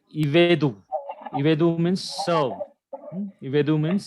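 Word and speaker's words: עבדו: Shiva comes, whether it is silent or vocal. Silent. Because it is followed by Short. Short vowel. Short Okay. vowel. So the pronunciation of this word is Ivedu.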